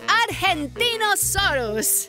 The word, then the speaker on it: Argentinosaurus: evo i'm angie the argentino soros whoa that is a big name for a big dino i have to break it up to say it right our gen team oh sore us that's me so i'm